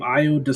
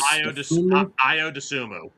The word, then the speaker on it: Iodumu: I How do you pronounce the last name? Iodum IO Dumu. Dumu.